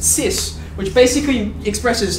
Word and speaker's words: cis: signed because i signed so they contract it like this they pronounce it cis which basically expresses how